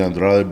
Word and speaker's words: Andrade: Yeah, growing up, that's the Andrade boys, you know, from my dad and my uncles, my grandfather, and everything.